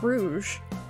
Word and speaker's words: Rouge: Calm down there, Rouge. See, I always thought that was spelled rogue, like pronounced rogue, but apparently it's Rouge.